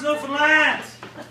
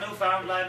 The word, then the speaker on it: Newfoundland: And it's pronounced Newfoundland! Not Newfoundland or Newfoundland.